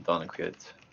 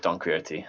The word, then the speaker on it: Don Quixote: the name donald quit i might be pronouncing that wrong maybe embarrassing wouldn't it well the first thing that came out is pronunciation then see how much i butchered this all right it's don quixote okay there it is